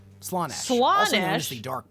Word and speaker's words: Slaanesh: Tell me I've been saying it wrong. I will fucking scream. It's Slaanesh, right? Don't say Slaanesh. Is it... Why is he saying it like that? It's Slaanesh. So is this just a troll? I mean, to be fair, they do spell it with 2 A's, it seems.